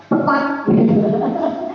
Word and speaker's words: TPACK: Apa bacanya ini? Tepat. Tepat ya.